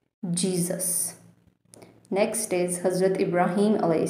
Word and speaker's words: Jesus: So we say it in English as Jesus. Jesus.